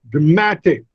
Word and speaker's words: dramatic: When I add tit to it, the stress shifts from first to the second, dramatic.